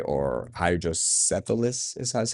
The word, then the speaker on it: hydrocephalus: of people with, whether it's autistic, right, or hydrocephalus, is that's how you say it?